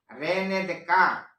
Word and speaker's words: René Descartes: Bacanya begini. René Descartes.